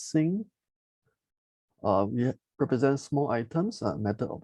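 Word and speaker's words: 辛: have sing over here you know it's pronounced as sing we represent small items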